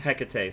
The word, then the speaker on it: Hecate: Hecate, sorry.